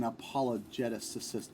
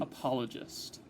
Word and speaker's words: apologist: So Graham, we have an apologeticist. How's the right way to say that, man? Apologist. An apologist.